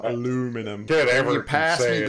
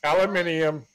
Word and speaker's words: aluminium: you get me some aluminum tomatoes listen it's uh aluminium it's tomato say it correctly you dumbass aluminium it's